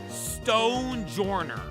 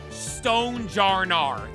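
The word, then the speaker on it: Stonjourner: Stonejourner. Stonejarnar. That's wrong. That's just not how you read that one either.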